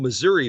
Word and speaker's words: Missouri: Springfield Missouri is Springfield Missouri for those of you that don't know how to say the state correctly Springfield Missouri or Missouri